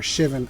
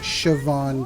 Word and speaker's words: Shivan: I know I've got a Siobhan dragon coming up next or Shivan I know I pronounced that incorrectly when we were kids we had no idea how to pronounce it correctly we pronounce it Siobhan dragon I'm aware that that is inaccurate should be interesting because